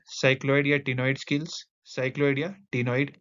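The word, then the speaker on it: ctenoid: cycloidal टनो इड scales नॉइड इस ये वाला सी जो है यह साइलेंट है तभी कह रहा हूं नॉइड स्किल्स एक्सटर्नल फर्टिलाइजेशन ओवी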